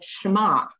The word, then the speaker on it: Shema: And these two verses are a prayer that is known as the Shema, That's S-H-E-M-A-H, and that first syllable is sort of shema, okay?